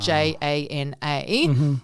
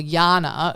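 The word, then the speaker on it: Janae: Italian name isn't it so actually the letter J does not exist in the Italian language and my name is spelled j-a-n-a-e so people assume it see that because GI in Italian or Jana for Eastern Europe so I'm constantly having to say no it's Jana with a hard J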